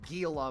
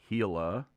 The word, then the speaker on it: Gila: This is the Gila monster. I'm joking. It's the Gila monster. Little me would be upset, but yes, it's pronounced Gila monster.